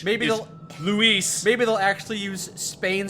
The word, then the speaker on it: Luis: Luis now and Matt Lewis because that's not how you pronounce Luis in Spanish maybe Luis maybe they'll actually use